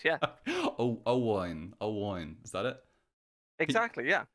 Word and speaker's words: Owain: Owain. Is that it? Exactly, yeah. Oh, can you pronounce it though? Because I still feel like a dick saying it. Yeah, Owain.